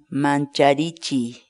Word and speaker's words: mancharichiy: de videos en la que te enseñamos a pronunciar algunas palabras en quechua Así que nuestra palabra del día por hoy es manchavichi mancharichi manchavichi la palabra quechua mancharichi en español significa